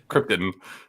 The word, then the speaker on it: Krypton: He's deliberately mispronouncing Krypton over and over. Yeah, it's Krypton.